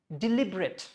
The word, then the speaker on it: deliberate: It's not deliberate, it is deliberate.